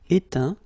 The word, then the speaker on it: éteint: Okay, as usual, final T not pronounced. Atteint, éteint, feint, peint, teint.